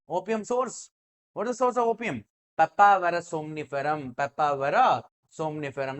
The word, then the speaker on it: Papaver: Piper, pepper. Pronunciation also similar. That's why do not get confused. Okay, Piper, pepper. But papaver is not pronounced as a pepper.